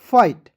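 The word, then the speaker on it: fight: है फ लिख दीजिएगा और अंतिम में आई जी एस टी है इसका उच्चारण आइट के रूप में करना है क्या हो जाएगा एफ आई जी एसटी फाइट ठीक याद रखना दोस्तों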